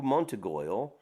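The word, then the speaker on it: Montorgueil: Paris has Rue Montegoyle, pronounced Rue Montegoy.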